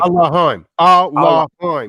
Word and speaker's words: Elohim: He taketh away Allahim, David. Allahim. Allahim. You're not a Muslim say Allah. You're saying Allahim.